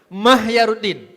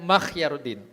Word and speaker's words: Mahyaruddin: Saya ulangi sekali lagi cara membacanya ya. Mahyaruddin ya. Bukan Makhyaruddin.